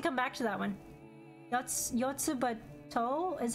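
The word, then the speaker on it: Yotsuba&!: Yotsuba To is how it's pronounced.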